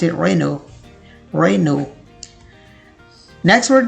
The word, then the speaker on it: Renault: they pronounce it wrong because it looks like Renault. लेकिन अगर आप इसे Renault बोलते हैं, that's totally wrong. The correct pronunciation is Renault.